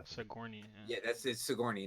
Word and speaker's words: Sigourney: Sojourner Weaver? Yeah. Okay. Sigourney Weaver. I think. Sigourney. Yeah, that's it. Sigourney, not Sojourner.